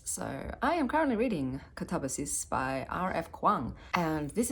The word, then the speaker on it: katabasis: So, if you wanted to be pedantic about it, the proper pronunciation of this is katabasis. That's is that is pretty much I'm pretty certain how you pronounce it in Greek. Katabasis.